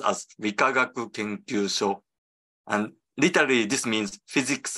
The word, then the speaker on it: Rikagaku Kenkyusho: So this is pronounced as Rikagaku Kenkyusho, and literally this means Physics and Chemistry Research Institute.